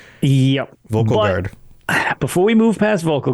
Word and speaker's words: Vulkhel Guard: Vulkhel But, that's As soon as I say that, I think of the word vocal, like to vocalize something. And then I'm like, "Ah, that's not how that's pronounced." Yep. Vulkhel Guard.